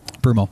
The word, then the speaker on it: Broomall: Is that how you say it, Broomall? Broomall, yeah.